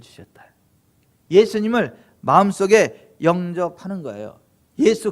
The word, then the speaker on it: 예수: 영어로는 Jesus 그러는데 발음이 틀렸어요. 후죠. 예수가 맞아요. 예수, 이게 정확한 발음이에요.